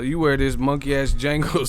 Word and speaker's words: Django: We gotta take some of the pressure off Joshua, so you wear this monkey ass Django suit, the D is silent ass suit, and then we're gonna put Joshua on this belt tour.